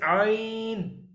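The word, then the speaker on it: عين: The both letter we can pronounce by the throat, but ain is the part of the middle part of throat.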